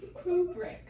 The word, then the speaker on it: Kubrick: Today I learned how to actually pronounce his last name. Kubrick.